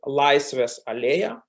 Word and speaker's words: Laisvės alėja: called Freedom Boulevard, and in Lithuanian language it sounds, it's pronounced Laisvės alėja, and it's one of the symbols of Kaunas.